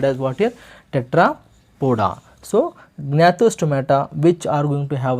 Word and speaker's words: Gnathostomata: Gnathostomata. Somewhere we will even silent the G here, we can pronounce it as what? Gnathostomata, Agnatha, we can pronounce like that also, students.